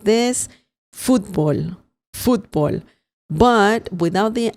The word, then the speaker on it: fútbol: Sometimes fútbol has an accent on the letter U and the pronunciation changes a bit. You say it like this, fútbol. But without the accent mark, it's pronounced fútbol.